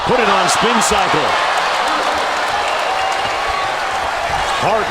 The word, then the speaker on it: Hart: Hart rhymes with start.